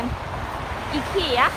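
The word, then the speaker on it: IKEA: ถูก ต้อง จริง ๆ มัน ก็ จะ เป็น อิ เขียะ อิ ขีย มัน จะ ต้อง ออก เป็น อะ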